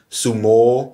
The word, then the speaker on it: Sumo: Und das wäre jetzt sozusagen die exakte Aussprache, wäre langes O hinten. Sumo. Sumo.